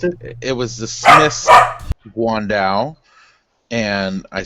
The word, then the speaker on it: guandao: How do you pronounce it? Guandao.